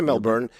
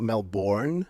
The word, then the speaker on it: Melbourne: Uh, I mean, you can say Melbourne. Mel Melbourne. What's important is the shortening of the second half. Not Melbourne. Melbourne. So whether you say Melbourne like we would say it or Melbourne.